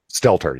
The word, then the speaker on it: Stelter: Stelter, yep.